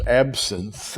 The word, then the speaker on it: absinthe: is called wormwood and in the greek by the way that is absinte which we pronounce is absinthe in english absinthe is a poisonous